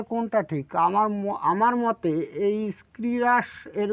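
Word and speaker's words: scirrhus: এস সি আই আর এইচ ইউ এস এর উচ্চারণটা হচ্ছে স্ক্রিরাস দেখুন এর উচ্চারণ কিন্তু তিন রকম আছে বাংলা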